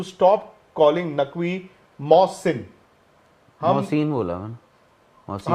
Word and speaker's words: Mohsin: नहीं, हम उस दिन बोल रहे होंगे, इट इज प्रोनाउंस्ड मोहसिन, हम बोलते हैं मोहसिन। ओह अच्छा, वो छोटी ही वो बोल रहे हैं, बड़ी ही लगाओ।